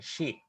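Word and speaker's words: ξ: How should we pronounce this? Xi? Xi Jinping, Yeah. China president. So we should pronounce this in this way, Xi.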